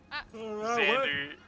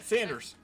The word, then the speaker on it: Xander: Xander, it's Xander X. Yeah, Sanders. No, Xander. There's no Sanders. S. Yeah. Sanders? Well. Sander. Sander. Am I saying it wrong? Yeah, Xander. yeah. Sander? Yeah. There we go. Sander? Yeah. With an X.